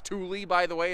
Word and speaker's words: Thule: fuel thing is pronounced thule by the way it's some kind of scandinavian pronunciation i'm sure um there's